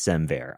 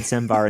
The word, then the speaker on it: SemVer: Semver. That makes Yeah. so much more sense than Semvar.